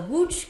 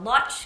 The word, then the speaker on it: Łódź: This is what you might know as the Łódź Ghetto, the Lodz Ghetto, the Litzmannstadt Ghetto.